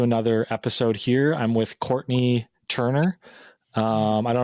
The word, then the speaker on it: Courtenay: Uh it is pronounced Courtney, but it's spelled like Cortina.